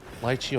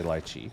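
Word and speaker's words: lychee: Um litechi or luchi, however you want to say it. Um I say lchi.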